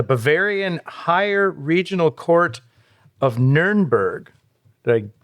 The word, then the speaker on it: Nuremberg: 1871, when the Bavarian Higher Regional Court of Nuremberg, did I pronounce that right? Nuremberg, yeah, up there, Franconia.